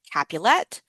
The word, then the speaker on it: Capulet: Um and so remember the way that you remember this is that Juliet Capulet, Romeo is Montigue, right? So Romeo ends in a vowel, Montigue ends in a vowel, Juliet rhymes with capulet.